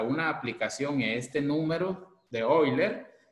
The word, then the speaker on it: Euler: tenemos un número ahí se escribe euler se pronuncia hoy leer y otro lo pronuncia de otra forma lo cierto que este